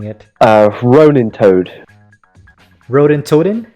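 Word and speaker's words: Ronintoadin: I don't know how to pronounce this, but we'll give Liam a shot at pronouncing it. Ronin Toad. Rodin Toadin? Rodin Toadin, yeah.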